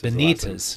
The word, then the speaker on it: Benites: Is it Bettis? How do you say your name? Benites. Benites. Yep.